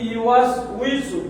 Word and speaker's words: يوسوس: নাস ইলাহিন নাস মিন শাররিল ওয়াসওয়াসিল খান্নাস আল্লাযী ইউওয়াসউইসু ফি সুদুরিন